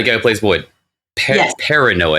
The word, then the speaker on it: Perrineau: Perrineau, I think is how you pronounce it. Perrineau, It's like French or something.